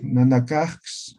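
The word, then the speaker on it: nanakax: Ya, Vanessa, ¿cuál es la pronunciación de la letra X? Ja. Ah, ya, entonces, eso tienes que leer. Como X me estás leyendo, ¿ya? Perdón. Nanakaj, así.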